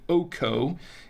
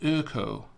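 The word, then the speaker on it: Öko: the wine so it's not going to be OKO it's actually pronounced uh as I understand it the co it's pronounced uko like like so it's pronounced this is a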